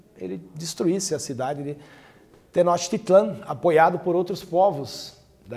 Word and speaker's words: Tenochtitlán: principal cidade do Sul do império Asteca a pronúncia é tenochtitlán tenochtitlán onde hoje é a cidade do México